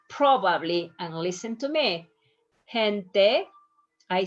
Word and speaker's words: gente: It's a little bit like the H. That's why one of the students told me, I think sometimes you pronounce a little bit more like an H, sometimes a little bit stronger. If you pick one, doesn't matter. As soon as you pronounce this softer than the G, you are going to be fine.